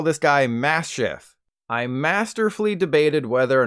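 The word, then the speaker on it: Maschiff: but for now you should call this guy Mass Chef I masterfully debated whether or not I should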